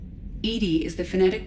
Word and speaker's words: EDI: Edy is the phonetic pronunciation of EI.